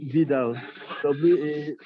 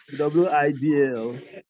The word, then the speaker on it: Widal: Just like most doctors make a mistake about pronouncing Vidal, Widal. It's called Vidal because it's also German.